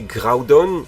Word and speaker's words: Groudon: Non eux Groudon Kogre. OK plutôt logique mais dites-vous bien que la prononciation aux États-Unis est très différente. Et oui prononcer Growudon et Kyoger et c'est même pire dans l'animé.